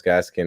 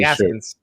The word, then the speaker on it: Gaskin: I know, but I feel like you're adding more to my argument of Myles Gaskin as an RB1. You said it wrong. I said it right. No, I It was made Gaskins.